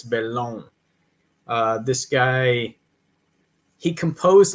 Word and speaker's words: Bellon: what's this guy's name Roger belone bellone it's spelled Bellin but the dude's French so it's belong uh this guy he